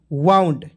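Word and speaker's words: wound: ठीक है तो देखिए लिखा डब्लू ओ यू एन डी वाउंड ठीक है एम ओ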